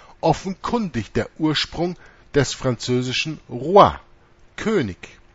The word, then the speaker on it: roi: Ohne den Artikel ist Roe, Hirte, offenkundig der Ursprung des französischen Roi, König. R-O-I schreibt man das, Roi.